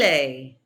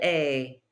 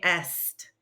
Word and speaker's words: est: Il est. Elle est. On est. Very good. That is an A sound. Try not to say est.